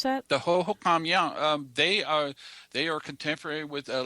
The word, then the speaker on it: Hohokam: Is that how you pronounce that? The Hohokam, yeah.